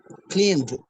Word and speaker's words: cleaned: Imagine that the letter E is not there. What is the pronunciation? Cleaned.